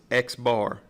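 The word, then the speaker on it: x̄: But notationally in statistics, what we use is this X bar, and that's exactly how you say it.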